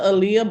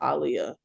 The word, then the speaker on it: Aaliyah: top five right who's Alia Aaliyah oh people pronounce it Aaliyah but it's actually pronounced Alia really it's Muhammad Aliyah yeah I'm like a